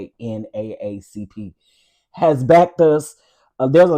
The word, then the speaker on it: NAACP: Yeah, the lady that I talked to, because I said something about NAACP, and she was like, "Yeah, well, we don't say NAACP, we say NAACP," and I was like, "Oh, okay.